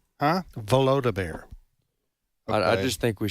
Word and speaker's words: Volodymyr: Zelensky, how do you pronounce his first name? Volodymyr. Huh? Volodymyr.